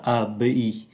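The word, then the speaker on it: abbaye: là AB M michel chúng ta phát âm là Abi Abi mel ở trên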